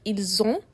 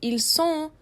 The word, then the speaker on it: ils ont: Make sure when you're pronouncing il elle it has a z sound like ils ont or else you would be saying ils sont which is a completely different verb.